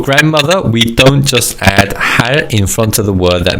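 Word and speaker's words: 할아버지: The word for grandfather is hari hari. Notice how the first two syllables link. So it's not har, it's hari.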